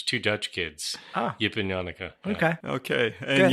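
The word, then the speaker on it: Janneke: Dutch kids Yip and yanuka okay okay and yanuka of course that's a pretty bad rhyme with Hanukkah is that the dude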